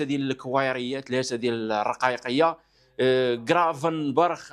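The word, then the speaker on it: Gravenberch: الكوايريه ثلاثه ديال الرقايقيه كرافن برخ اولا نقولوا له خرافن برخ كل واحد يسميها بطريقه وينطقها كيف ما بغاه الدراري في هولندا كيقولوا لي را هذه كتقرا الجي كتقرا خا بحال هذك الجي في اسبانيا كتقرا خا ما عليناش فالفكره واضحه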